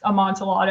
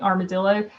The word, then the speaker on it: amontillado: that that idea of a kid that can't pronounce amontillado and she keeps saying armadillo um that is a child that's kind of